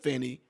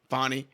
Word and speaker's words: Fani: they're going to bring in somebody else should fny fonnie excuse me for getting the sister's name wrong should fonny Willis get pulled off this case do you